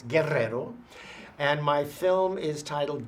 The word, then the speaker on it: Guerrero: All right, well, I'm Guerrero, or if you can roll your R's, Guerrero.